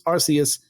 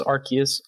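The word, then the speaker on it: Arceus: been saying archist there are other people who pronounce it this arus I do say arus I know the I know the root word I know Pokemon official says archus I don't care I think it sounds silly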